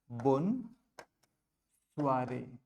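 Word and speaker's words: bonsoir: बोन स्वारे बोन स्वारे जो आर का sound है फ्रेंच में वह ख का साउंड होता है लेकिन एस अ बिगनर हम चाहे तो इसको बहुत सॉफ्ट रख सकते हैं इसलिए हम बोलेंगे बोन स्वारे बोन स्वारे आगे नेस्ट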